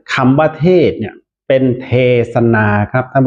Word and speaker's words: เทศนา: สันสกฤต ครับ เป็น เทศน์ ถ้า เรา อ่าน คำ ว่า เทศน์ หน หนู ก็ จะ เป็น มี การัน ใช่ มั้ย ครับ แต่ ถ้า อ่าน ว่า เทศนา ก็ จะ เป็น สระ อา ที่ นอน หนู แต่ ว่า สะกด ด้วย สค ศาลา เหมือน กัน นะ ครับ และ หลัก